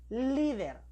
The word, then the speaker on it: líder: Se puede tildar la palabra líder porque su sílaba tónica está en li. Vamos, pronunciamos líder.